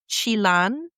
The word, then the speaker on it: Chelan: Uh, so Chelan is a Salish indigenous word, and it's pronounced Chilan. That's the best I could do, so don't come for me on that because I tried, okay? Um, Chelan.